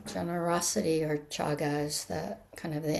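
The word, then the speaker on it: cāga: Donna as generosity uh the better word for it in Pali is chaga c a long a g a chaga.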